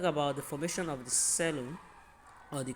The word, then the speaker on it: coelom: Okay, talk about the formation of the cellum or the column, depending on what you call it. Just know the pronunciation, just know the correct pronunciation, and then the spelling.